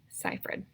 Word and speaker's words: Seyfried: seyfried I googled how to say her name ciphered okay she has wide said eyes notice they're